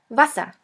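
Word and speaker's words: Wasser: V which sounds like the V in the word van. The German word with the letter V is vasa. Vasa which means water.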